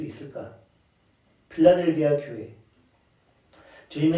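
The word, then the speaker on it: Philadelphia: 필라델비아 교회가 있는 도시가 어디일까요? 당연히 필라델비아. 영어식으로 발음하면 필라델피아.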